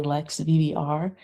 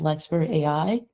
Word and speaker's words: Lex AI: I know a lot of people see it at first and say Lex VBR. Um that's that's fine, but um we pronounce it as Lex AI and it's built to change that frame.